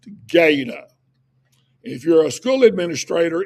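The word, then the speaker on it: GATA: It's g a ta and it's pronounced gada.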